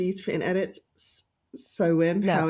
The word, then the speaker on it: Samhain: too much for you to fit and edits sew in no it's spelled and how it sounds it's s-a-m-h-a-i-n is a Celtic word sew in salmon it's not pronounced pronounced Sam Hayne it's pronounced because you know the the Celts